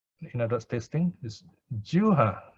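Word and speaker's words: jivhā: Tongue contact, in other words, tasting, is juha. You pronounce it as juha. The V is like W, juha sampassa.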